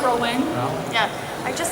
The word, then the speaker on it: Rowling: but I was going with the Rowling thing or rolling thing SM don't know how it's pronounced like we not here right it's rolling yeah I just said